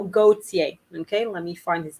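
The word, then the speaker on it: Gaultier: the fashion designer okay so gautier gautier i obviously pronounce it the quote-unquote corrective french way so gautier okay let me find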